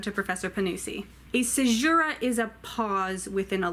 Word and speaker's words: caesura: more for and we're this time it's Latin and it is I believe pronounced caesura but I learned how